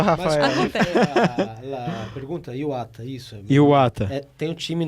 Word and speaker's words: Iwata: o meu nome se pronuncia-se Júbilo Iwata, igual o time japonês, o Júbilo Iwata.